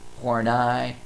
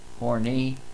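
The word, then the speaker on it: Horney: Honestly, her name I've heard it pronounced like several different ways. Hornet, Hornai, Horny, however you want to pronounce it is fine with me.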